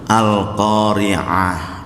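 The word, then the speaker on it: القارعة: Lah kalau pembacanya perempuan namanya qari'ah. Cuma pakai hamzah itu. Yang hari kiamat itu adalah Al-Qari'ah pakai ain. Makanya memang harus akurat. Seorang penceramah, seorang ustadz memang bahasa Arabnya harus lumayan bekalnya ada.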